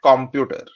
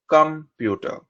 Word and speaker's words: computer: Many of us say computer, but it is computer.